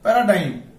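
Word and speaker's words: paradigm: অর্থ হচ্ছে চিহ্ন এরপর আমরা দেখবো প্যারাডাইম প্যারাডাইম এই যে এম এর আগে জি আছে এই জিটা কি সাইলেন্ট ওকে প্যারাডাইম অর্থ হচ্ছে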